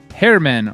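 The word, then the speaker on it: Germán: rocks garrett richards versus hairman marquez that's how you say it by the way it's not herman it's hairman hair man marquez that's it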